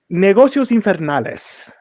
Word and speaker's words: Negocios Infernales: Negocios Infernales, as it is properly pronounced, and the Wall of Games.